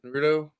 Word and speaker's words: Naruto: Naruto?